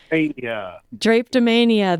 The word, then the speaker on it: Drapetomania: Drapetomania. There we go. Drapetomania, which is coming to the London Nelson Center on June 6th at 7 p.m.